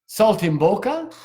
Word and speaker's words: saltimbocca: them with because that sounds absolutely delicious veal saltimbocca if I'm pronouncing it correct that sounds delicious Dominick anyone